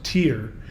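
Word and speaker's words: Týr: father god of the Norse tradition, which is pronounced in the Norse, Tyr, in the Anglo-Saxon, Tiu.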